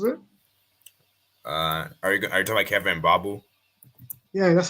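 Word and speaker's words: Kevin Mbabu: Are you talking about Kevin Babu? Yeah, that's how you pronounce it.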